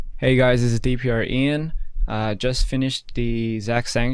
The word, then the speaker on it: DPR Ian: pronounced correctly? Yes, that is correct. DPR Ian.